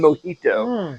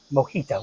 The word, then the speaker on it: mojito: Mojita. Why did I say it like that? Mojito. Like I'm Russian.